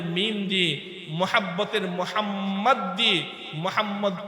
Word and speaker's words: মোহাম্মদ: বেশি উচ্চারিত হয় দেখ কেয়ামত পর্যন্ত প্রত্যেক উম্মতি মোহাম্মদ তার নামের শুরুতে আমি আমার নবীর নাম লিখবে